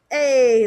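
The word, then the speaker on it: j'ai: i have and then you pronounce this like hey like you see somebody in the hallway and it's your friend you're like hey buddy what's up when we have two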